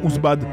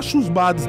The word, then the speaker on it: Houssbad: un H lui aussi le h on ne prononce pas dans ous bad dit pas chous bad tu es un